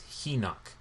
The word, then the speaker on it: Henoch: And what's interesting is the Ethiopic version of the book of Enoch, they pronounce it as Henoch.